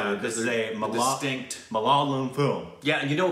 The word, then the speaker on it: Malayalam: Malayalam. Malayalam film. I'm sure I mispronounced that. I think that's in South India. It's one of the... It is, yes. I think it's actually Malayalam.